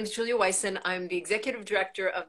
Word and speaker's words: Julia Wyson: Is it Julia Wyson? Julia Wyson, yes. Wyson, okay. Yeah, so I've got the pronunciation right.